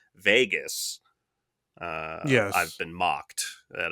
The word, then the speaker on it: vagus: I'm going to try to pronounce it right. Vegas.